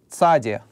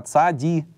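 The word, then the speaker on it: צדי: Следующий согласный называется "цаде". Снова я рисую строку. "Цаде", да, иногда "цади" называют, но звук "ц".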